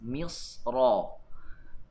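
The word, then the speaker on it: مصر: Tetapi pada pandangan Imam Ibnu Jazari beliau memilih misar dibaca dengan tebal disebabkan apabila kita bacanya dengan sambung ia berbaris atas misra.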